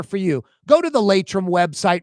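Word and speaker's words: Laitram: Go to the Latum website right now. Latum is spelled L A I T R A M for a full listing of positions available.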